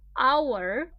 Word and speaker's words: hour: problem here for example our starts with H H is not a vowel not a toe but pay attention to the pronunciation un hour a the first sound that you hear is a vowel and this is what